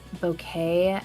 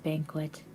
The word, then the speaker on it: bouquet: I didn't know how to say the word bouquet. I always called it banquet.